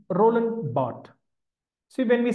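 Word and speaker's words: Barthes: Dera B Roland Bart b a r t h s but is pronounced Bart then C Sigman Freud D Jack laon answer B Roland bot so when we say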